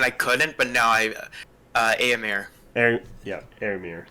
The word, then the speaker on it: Éomer: Éomer. That's how you pronounce it.